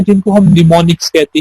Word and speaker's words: mnemonics: कुछ symbolic code होते हैं जिनको हम निमोनिक्स कहते हैं। ये जो वर्ड है MNEMONICS, इसको आप, इसमें M साइलेंट है, आपने इसको निमोनिक्स पढ़ना है।